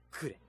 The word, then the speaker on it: clef: 鍵、フランス語で CLEF、発音はクレ。